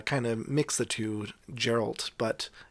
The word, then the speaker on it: Geralt: geralt cause i'm so used to the name gerald and every time i would see his name i would always uh kind of mix the two geralt but it's geralt i understand that now i'm